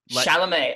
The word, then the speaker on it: Chalamet: Chalamet. I was so close. Okay. Pretend you're saying the name Charlemagne, but you just take out the N-E. The N-E. Chalamet. Chalamet.